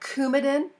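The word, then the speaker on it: Coumadin: medicines with warrin or cumin the antidote is Vitamin K it's kind of that hard C sound so cumin is Vitamin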